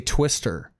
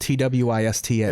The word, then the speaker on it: Twista: And I used to say Twister. And I'd get made fun of because his name is spelled Twista. Ends in an A. Like they would say, like, dude, it's Twista. Like, say it like that.